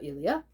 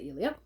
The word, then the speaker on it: Elia: charles lamb's essays of ilia i know i've heard it pronounced different ways but i've decided to say elia and charles lamb was